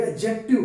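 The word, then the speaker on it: adjective: ये साथियों एडजेक्टिव नहीं होता, ये एडजेक्टिव होता है। डी यहाँ क्या रहेगा साथियों?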